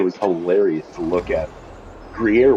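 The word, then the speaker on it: Gruyère: Gruyere was the best one because people would call it gay ear, gay rear, and it's like, Jesus Christ, are you guys fags or what?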